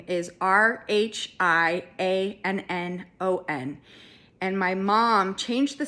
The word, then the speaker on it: Rhiannon: And so the name is spelled, the Welsh spelling is Rhiannon.